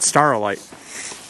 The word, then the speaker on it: staurolite: you're left with mostly Staurolite? Mostly Staurolite. Or I keep saying Staurolite because that's how it's spelled. Staurolite. Or that's at least the way we say it here.